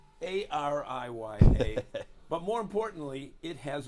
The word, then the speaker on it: Ariya: it's Ariya.